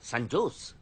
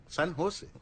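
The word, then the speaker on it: San Jose: ও বাবা, সান জোস? সান হোসে। সান হোসে। সান হোসে। জের উচ্চারণটা এইচ এর মতো হবে, সান হোসে।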